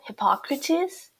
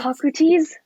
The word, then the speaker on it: Hippocrates: Hippocrates? Hippocrates? Hippocrates? Hippocrates? They all like end with like ease. It's like es. It's ease. I think. Hippocrates? I think so. Hippocrates? Okay, I should. Hippocrates, a great philosopher.